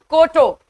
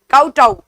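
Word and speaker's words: kowtow: Next, अगला question कह रहा है ही रिफ्यूज टू कोटो, या फिर इसको काउटाउ भी बोल देते हैं, ठीक है। या तो कोटो कह सकते हो या फिर काउटाउ। काउटाउ एग्जैक्ट प्रोनाउंसिएशन तो होती है काउटाउ।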